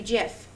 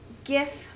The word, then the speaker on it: GIF: Close, but no cigar, because if it was because of the vowels, it would in fact be GIF. But it's not. So these words, their pronunciation all has to do with the origins of them.